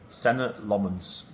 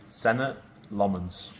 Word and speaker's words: Senne Lammens: Pronounce your name. Senna Lmens. Senna Lmens. Senna Lmens.